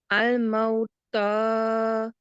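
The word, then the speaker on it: الموت: It's about 2 seconds. 2 seconds. So I think you pronounced this for 1 second. It was shorter than 2.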